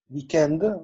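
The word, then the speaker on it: week-end: Weekend. On prononce pas le S.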